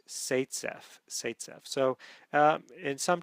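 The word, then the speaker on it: Zaitsev: name um Z AI TS V but it's pronounced satf satf so um in some textbooks you'll see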